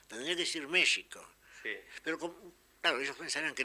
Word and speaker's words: México: lo curioso es que en México escriben con x pronuncian con j tendría que decir México pero claro ellos pensaran